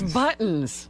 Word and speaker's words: buttons: It's buttons. T. You got to say a T.